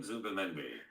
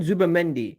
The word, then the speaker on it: Zubimendi: Yes, Martin Let me see how you pronounce his name. Martin. 1 second. Martin Zubimendi. Martin Zubimendi.